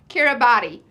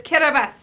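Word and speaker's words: Kiribati: it wrong every day it is not kyra body it is kirabas island and you can start putting in that now byu admissions to 222.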